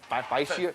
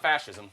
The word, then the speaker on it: fascia: It's not fascism. It's fascia. That's right.